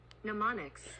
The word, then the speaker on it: mnemonics: in e-m-o-n-i-c-s pronounce melanomics okay mnemonics mnemonics see okay I'm adding in the m is silence mnemonics which is word